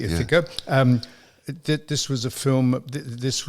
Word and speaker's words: Ithaca: Now that I've pronounced it correctly, Ithaca.